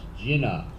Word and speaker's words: Gina: are you here Jen she says your name is pronounced Jina like to drink so do you drink